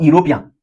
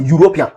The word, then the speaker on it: European: It starts with a vowel letter e, but the pronunciation is not e or European. No, it's pronounced European.